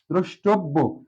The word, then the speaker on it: দ্রষ্টব্য: ব ফলের সাথে মানে ব এর সাথে জ ফলা আছে এজন্য দুইবার বচ্চারিত হবে দ্রষ্টব্য এবং শেষটির সাথে উকার